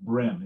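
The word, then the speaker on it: Bream: the log book of the british schooner hms brim brim is spelt b-r-e-a-m but like the fish it's pronounced brim it's a it's a really small warship um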